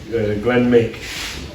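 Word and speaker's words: Glenmuick: And on the other side, we have the logo for his third estate in Scotland, Glenn Mick, spelled differently to how it's pronounced cuz it's Scottish.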